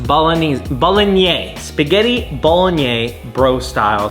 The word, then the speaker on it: Bolognese: Bolognese. Bologanese.